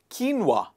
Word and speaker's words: quinoa: and what do we call it it's called quinoa people call it quinoa quinoa not quinoa it